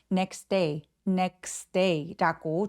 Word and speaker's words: next: the next day라고 하는 이유는 자음이 이렇게 세 개가 몰려 있을 때에는요. 중간에 낀 T 발음을 삭제하게 돼서 next day라고 중간에 T 삭제하고 발음합니다.